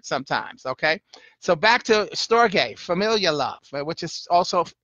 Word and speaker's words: storge: number 5 on the list and that's spell sto rge so at first I thought I'm gonna say storage but it's pronounced storage a storge and it's familial love